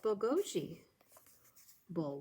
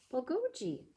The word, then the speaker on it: bulgogi: food and justin answers it's bogoji bull what i don't know if i pronounce that right maybe someone here knows how to say it bulgogi it's korean barbecued beef